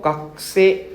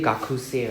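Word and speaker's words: 学生: So kakuse, we don't pronounce the u, right? We don't say gakuse, right? Kakuse. The u is silent, huh? Kakuse.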